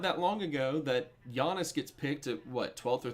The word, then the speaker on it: Giannis: Because, It's just not that long ago that Giannis gets picked at, 12th or 13th? And people are just like, who's this kid? How do you say anti-Tom, you know? Giannis.